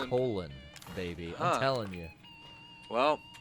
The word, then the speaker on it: Colin: as colin farrell and it's spelled the same way as colin firth colin kaepernick and uh colin jost and colin hayes i mean all of them spell it the same yeah but this this went by colin he went by colon you know what i'm